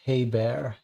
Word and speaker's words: Hebert: The chat says that Heert would be pronounced Hey Bear. He bear.